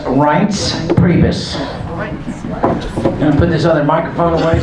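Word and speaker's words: Priebus: the chairman of the RNC his name is pronounced RS prus and put other microphone away so we don't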